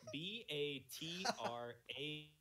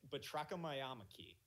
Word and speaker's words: batrachomyomachy: Okay, so it's spelled BATRACHOMYOMACHY, and I don't know if they'll be able to hear this. That's it. Batrachomyomachy.